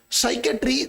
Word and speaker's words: psychiatry: American ASA का पूरा नाम होता है अमेरिकन साइकेट्री। साइकेट्री में पी साइलेंट होता है, इसलिए मैंने एएसए लिखा है।